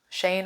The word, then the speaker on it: Shein: I mean, if you think about like the Shane hauls, Shane, I think is how you say it, on TikTok and even